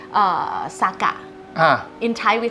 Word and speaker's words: Saga: And I showed them the map, showed them how Saga was pronounced, and the people at the train station was like, "This is not Saga. This is Saga."